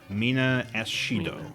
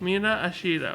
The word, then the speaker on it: Mina Ashido: Mina Ashido. Mina Ashido. Because it's like a pronunciation of acid in Japanese.